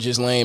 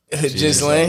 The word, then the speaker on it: Ghislaine: Ghislaine. Ghislaine Maxwell. With the J.